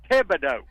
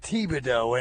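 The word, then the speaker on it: Thibodaux: Stepping back to yesterday morning, the correct pronunciation is Tibido. It is northnortheast of Homa by about 10 miles, but the correct we know where it is. I brought it up because Trey Reed said Tibo and and and Trey's a learner man.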